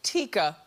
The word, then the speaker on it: Tyka: soundtrack and his sister tyka who they pronounced tikka well she what this